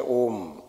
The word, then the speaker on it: ओम: जब हम ओम का उच्चारण शुरू करते हैं तब उसकी ध्वनि मुंह से निकलनी चाहिए, फिर धीरे धीरे मुंह